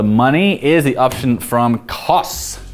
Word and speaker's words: Kos: is the option from costs Kos it's pronounced cost this is our favorite